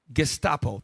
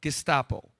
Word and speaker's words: Gestapo: Pull up the term Gestapo. Thank you. I pronounced it wrong. Gestapo.